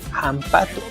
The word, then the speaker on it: hampatu: Hampatu, que es sapo or how do you say sapo en que ya es hampato. La H, ojo, se pronuncia tal cual una j igual que el inglés.